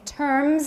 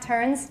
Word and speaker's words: terms: But it is also possible to describe them in terms. Everybody watch the M, not turns. Terms.